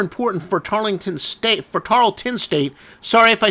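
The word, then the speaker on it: Tarleton: people made uh comments making fun of my pronunciation anyway if I do say uh tarlington State sorry Tarlton State regardless of how we pronounce it it's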